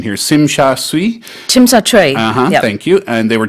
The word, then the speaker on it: Tsim Sha Tsui: And thousands of protesters were out in the harbourfront district of, help me out with my pronunciation here, Tsim Sha Tsui. Tsim Sha Tsui.